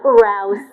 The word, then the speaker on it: Rouss: Rouse, rhymes with house.